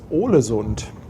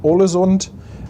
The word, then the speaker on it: Ålesund: MG, das nächste Ziel ist Ålesund. Also Aal, das ist so ein A mit einem Kringel da drüber.